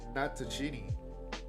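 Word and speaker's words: Natochenny: Sarah Natachini, that's how you pronounce her name, who wasn't allowed to play the video game as a kid, but adored the television series.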